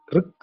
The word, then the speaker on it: ரிக்: பழைய வேதம் ரிக் அப்படிங்கிற ரிக் தான் அவ்வளவுதான் வரணும் ரிக் அப்படித்தான் சொல்லணும் அதை நம்ம சொல்றதுக்கு ஈஸியா இருக்கும் ரிக் வேதம்னு சொல்றோம் இங்கிலீஷ்ல அதை எழுதினதுனால ரிக்வேதம்னு அது ஆர் யூ ஜி ரக்ன்னு சொல்ல முடியாது ஐயும் யூவும் கலந்த ஒரு உச்சரிப்பா அது வரும் ரிக் அப்படின்னு வரும் ரிக்வேதம் ரிக்வேதம் கலந்த வேத